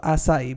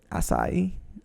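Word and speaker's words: açaí: What's the big deal of acai bowls? Is that how you say it? Acai.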